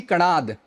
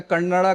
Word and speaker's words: कणाद: पूरा है ये ऋषि कणाद, ठीक है। इसको इंटरनेट में देखिएगा, मिस प्रोनाउंसिएशन बहुत होता है, कन्नड़ा कोई कहते हैं, कोई कनाडा कहते हैं, बट कणाद है ये, ठीक है।